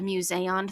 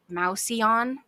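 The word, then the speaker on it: Mouseion: thing I'd really like to call it the museon throughout this episode because that's what they called it but every time I see this word because of the way it is spelled I want to pronounce it mouson and that's just not correct so I'm going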